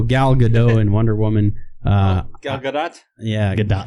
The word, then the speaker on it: Gal Gadot: Gal Gadot. Yeah, Gadot. Gal Gadot. Yes. She likes to pronounce a T.